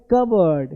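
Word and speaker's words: cupboard: लिखते हैं कप बोर्ड, पढ़ते हैं कबर्ड।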